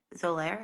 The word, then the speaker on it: Xolair: Xolair, is that how you say it? Xolair.